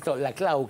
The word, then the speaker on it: Laclau: que ver sobre eh la clau que sí se pronunciaba puesto que así se pronuncia puesto que es catalán y no francés.